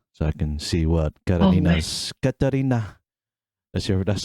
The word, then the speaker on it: Katarina: So in Samoa, it's actually Kakalina. Kakalina, yeah. Catalina. Kakalina, yeah. Yeah, Kakalina. Because the Yeah, letters are but switched and stuff.